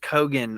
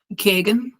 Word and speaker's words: Keoghan: I thought it was like just Kogan or like Kegan, maybe even. So with an Irish like dialect, it goes like Kagan.